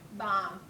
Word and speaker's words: bomb: You wouldn't think an old lady would want to set off a Bomb. Bomb. The B is silent.